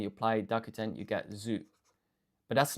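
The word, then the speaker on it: づ: Okay, so this one is du pronounced zu.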